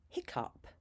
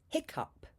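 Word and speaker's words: hiccough: There are two more pronunciations for O U G H. They're not common. Number eight, up as in hiccup. Hiccup.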